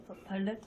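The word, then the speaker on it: 반례: 발레? 그죠, 발레라 부릅니다. 자, 글자로는 반대되는 예라고 해서 발레라고 해야 되는데 이 발음이 어려워서요. 자음동어에 의해서 발레라고 읽으시면 되고요.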